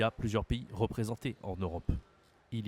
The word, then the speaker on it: Europe: a l'Europe l'Europe l'EUR attention ici la prononciation on dit e u ça se dit e en français Europe Europe d'accord en anglais c'est différent Europe en français c'est Europe d'accord pourquoi pourquoi l'Europe il